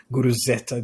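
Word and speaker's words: Guruzeta: Guru Zeta.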